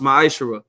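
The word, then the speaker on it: מעשר: verse 8 through 10 means 10th and Hebrew and it's pronounced maishara ten percent of every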